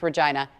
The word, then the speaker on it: Regina: It's Regina, spelled Regina, pronounced Regina.